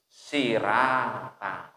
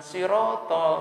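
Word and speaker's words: صراط: Sirotol itu ditulisnya menjadi sirata. Nah, kalau dia belajar Al-Qur'annya hanya mengandalkan tulisan Indonesia, enggak kembali kepada asalnya huruf-huruf Arab, dia akan bacanya bukan sirotol, tapi apa? Sirata. Sirata.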